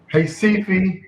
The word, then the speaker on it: Recife: overlap rio fortaleza salvador hey sifi now i'm used to saying creepy but i forgot that the r is pronounced as an h so you know so